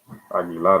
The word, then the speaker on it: Aguilar: now that's going to bring up jesus aguilar aggie lot i should say because that's the way you pronounce his name aggie ladder pitch is going to be strike one on